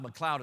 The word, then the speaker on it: McLeod: McLeod is spelled M-C-L-E-O-D, not like cloud like up in the sky.